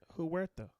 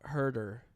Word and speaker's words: Huerta: Huerta. Is that not how you say his He's name? white, not Hispanic. No, well that's the way you spell Huerta. Herder is how they pronounce it.